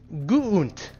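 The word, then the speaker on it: Guuunt: My name is Guunt.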